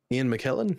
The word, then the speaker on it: McKellen: It was the Ian McKay Magneto. Jesus, I just pronounced the character wrong. Ian McKellen?